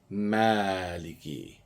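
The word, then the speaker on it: مَالِكِ: But if I was to lengthen that pronunciation to two counts, where I can use my finger to count, right? Then I would say Maaliki.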